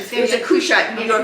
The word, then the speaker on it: Cushite: he was marrying how do you not c a s h i t e is how you how do you pronounce it? That was her cashit. Cashit woman. Was it a cushite? Kushite.